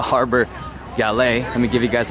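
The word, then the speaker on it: Harbour Galley: for the harbor galet I've been mispronouncing its name all this time I used to call it the harbor Gallery but it's actually called the harbor galet let me give you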